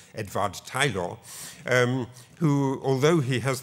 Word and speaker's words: Edward Taylor: man called Edward Taylor or at least I pronounce him as Edward Taylor but he should be properly pronounced edad Tyler um who although he has this beautiful name